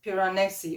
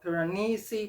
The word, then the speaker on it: Piranesi: the same time as piranesi or piranesi whichever pronunciation you prefer but i absolutely love